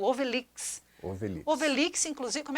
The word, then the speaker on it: Ovelhix: E aí, então, surgiu uma obra maravilhosa, que é o Obelix. Obelix. Obelix, inclusive, como é que se escreve Obelix aqui para mostrar para o pessoal?